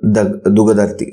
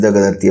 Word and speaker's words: Dagadarthi: Okay, sometimes it is called Dugadarthi. So the pronunciation is a little different, but it is Dagadarthi.